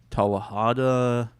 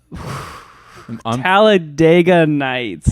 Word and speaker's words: Talladega Nights: I did watch I think it's Talahada. What's that? Fuck. I said it wrong. With the Ricky Bobby movie. The Ricky Bobby movie. Okay. What is that called? Talahida Heights? Talladega Nights. Talladega Nights.